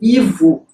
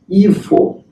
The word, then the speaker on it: Ivo: Então, na maior parte das variedades sociolinguísticas no Brasil, as pessoas dizem Ivo. Em algumas variedades, por exemplo, a variedade gaúcha, elas dizem Ivo.